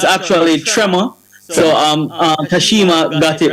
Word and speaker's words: Trmor: So, it's actually Trema. So, um Kashima got it right when she pronounced it. Yeah, it was it's Tremor.